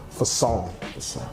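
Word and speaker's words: façon: it means fashion way in French so it's pronounced Fong or if you want to put the little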